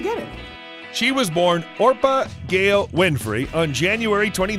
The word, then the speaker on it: Orpah: Her given name was Orpah, a reference to the biblical figure in the book of Ruth. As a baby, people regularly mispronounced the name as Oprah, which eventually stuck.